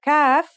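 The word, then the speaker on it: ك: The calf is pronounced just like the English K.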